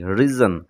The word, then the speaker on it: reason: তারপরে সবশেষে দেখো রিজন শব্দটিতে এস লেটারের উচ্চারণ আমরা মাঝখানে জ্বর মতো পাচ্ছি রিজন।